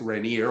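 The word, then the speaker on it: Rainer: l m n N I would pronounce it reneer although not technically proper in German zlan uh and the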